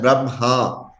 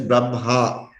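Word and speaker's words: ब्रह्म: See, we pronounce it as Brahma. Hakara comes in the end. All right. That is the right way of pronouncing Brahma. It is not Brahma. It is Brahma.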